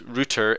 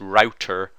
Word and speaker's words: router: how I pronounce router it's pronounced router in the United Kingdom it's pronounced router router yeah router in